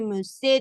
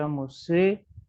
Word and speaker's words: musée: Por ejemplo, en el caso de la palabra musée, ahí tenemos una letra muda. ¿Cuál es la letra muda aquí en musée?